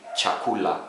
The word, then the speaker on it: chakula: So our first consonant in Swahili is CH, ch, as in cheap. A good example in Swahili, chakula, food, chakula, food.